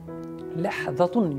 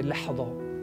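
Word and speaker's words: لحظة: You can say lahzatun with tanween. Lahzatun. But most of the time Arabs do not use this way. Lahzatun un all that tanween. Just while they speak, they just say lahza, lahza, lahza, lahza, lahza. Okay, this is very commonly used kind of the pattern.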